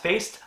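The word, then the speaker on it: Faist: this film is mike i think it's pronounced faced i couldn't i could be wrong it's f-a-i-s-t who plays riff seriously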